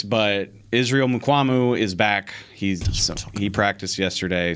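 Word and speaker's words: Mukuamu: You guys are right. It's Mukwamu. The pronunciation sheet actually had the wrong stress. Yeah, but it's Mukwamu.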